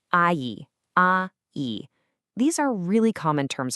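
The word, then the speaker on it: 阿姨: And for a woman, you'd say I a.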